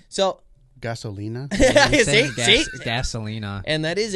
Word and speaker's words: Gasolina: Casablina. Say about it, Casablina. And it's like, so. Gasolina?